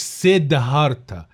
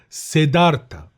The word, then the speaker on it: Siddhartha: المفروض اله دي ما بتبانش في النطق، فبيتقال بودا مش بودها، فسيدارتا مش سيدهارتا، سيدارتا.